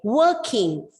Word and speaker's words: working: Again, working, the R is silent because it is followed by a consonant sound, of working and rushing and busy school days.